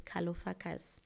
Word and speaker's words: Kalofagas: Um, so calo is pronounced as kalopakus.